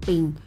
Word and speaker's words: ปิง: พิง อ่าน ว่า เมือง ปิง เพราะ เสียง ภาษา คน ล้านนา ออก เสียง ตัว พ พาน เป็น เสียง ป ป่า เช่น ภาษา ไทย กลาง